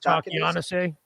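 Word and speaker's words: Takeahnase: Takianase.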